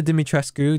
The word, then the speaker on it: Dimitrescu: Alcina Dimitrescu, that's how you say it in Romanian, or with a if I had a Romanian accent. No, I mean, that's how they say it.